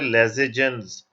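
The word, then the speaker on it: Lassaigne: Preparation of sodium fusion extract या लेजाइन extract, basically जो exact pronunciation है वो है लेजेजेंस।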